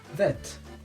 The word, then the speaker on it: vert: Vert. Green is pronounced vert.